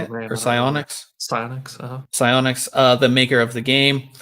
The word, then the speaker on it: Psyonix: I grabbed it at QuakeCon, and so last year, or was it this year, that Epic bought Psychonix? Is that how you say it? Or Psyonix? Psyonix, the maker of the game.